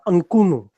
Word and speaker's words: Mchunu: The correct way of pronouncing his name is Thabiso Mchunu.